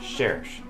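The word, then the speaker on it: Cherche: a little research and apparently her name is French so I literally looked up the word in French and I get it's pronounced cherish I'm gonna guess that's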